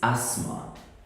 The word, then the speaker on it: asthma: good next one is you got it it's Asma what British Asma Americans say Asma but it's okay Asma asthma is